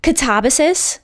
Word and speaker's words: Katabasis: Katabasis, which, yes, I had to listen to a